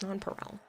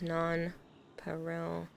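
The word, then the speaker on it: nonpareil: parallel no non paral it's non paral I literally looked it up every single website was pronouncing it the way that I am Noe it pisses me off he thinks he's right the pronunciation per Google is non Peril Archer wants to know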